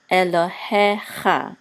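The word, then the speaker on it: אֱלֹהֶיךָ: So Lo, and then the He with a Segol, and the Yud says He, and this Chaf Sofit with the Kamat says Cha. Elohecha.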